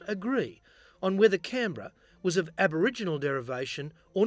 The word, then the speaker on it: Canberra: or not, nor on the so-called correct pronunciation of Canberra, or Canberra. So the visiting Commonwealth politicians opted for the ultimate pragmatic solution. Whatever pronunciation Lady Denman used on the day would become the endorsed version. Trudie Denman, history records, decided to forego Canberra in favour of Canberra, putting the accent on the can.